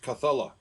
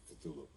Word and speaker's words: Cthulhu: He said you're supposed to pronounce the first part Cthulhu, and then the second part is just supposed to be like a guttural sound.